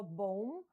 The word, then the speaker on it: bomb: У вимові слова bomb, bomber, друга B не вимовляється.